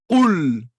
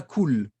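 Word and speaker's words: قل: Qul et pas cool.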